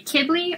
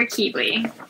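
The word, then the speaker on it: Qibli: So for this one, you can actually say Kibli or Kibli. He doesn't mind either way. I say Kibli, but Kibli is just as right.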